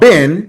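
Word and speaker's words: בן: The son is called ben. It rhymes with hen or men.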